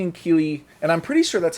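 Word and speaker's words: Kíli: pronounce it because we we have the accent marks on the first syllable this time. So, you could pronounce it Philly and Killy, but I think it's Phy and Keely.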